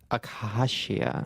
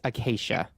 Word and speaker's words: Acacia: yeah okay so i am here um with akashia that's not my name how do you say it again oh damn it i keep around uh okay the queen of instagram yes acacia okay um and she uh is ready for